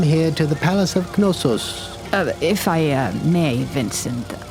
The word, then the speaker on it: Knossos: To gain a better understanding of their Bronze Age civilization, we have come here to the Palace of Knossos. If I may, Vincent, it's Knossos.